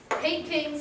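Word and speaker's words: Peking: H that is the pay King men or the Beijing men pay King sounds like the combination of pay and King and as you know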